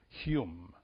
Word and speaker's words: Hum: But it has another word there that we always point, which is the word H-U-M, whom. We pronounce Hume, which is another Sanskrit word related with the wind, with the spirit.